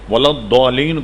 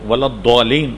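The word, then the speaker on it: الضالين: نے یہ بتایا کہ اس کا تلفظ زال سے ملتا ہوا نہیں، ولا الضالین نہیں ہے، ولا الضالین ہے، ولا الضالین، یہ جو دو ڈاڑے ہیں اس پر زبان کی ایک طرف کو لگا کر نکالا جائے، ولا الضالین۔ جب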